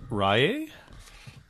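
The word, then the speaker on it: Ryé: uh the um Ben rehea or Reay I don't know the way I would say that with the accent on the E is Ray I I I remember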